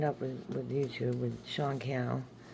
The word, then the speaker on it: Cannell: So yeah, I signed up with YouTube, with Sean Cannell. Rhymes with YouTube channel.